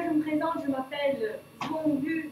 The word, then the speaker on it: Duong: Donc déjà, je me présente, je m'appelle Duong Gu, donc Duong comme ça s'écrit, hein, D-U-O-N-G. Le D se prononce D parce que je suis du Vietnam du Nord.